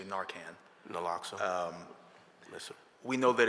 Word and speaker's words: naloxone: We know that Noxaline, am I saying it right? I usually say Narcan. Naloxone?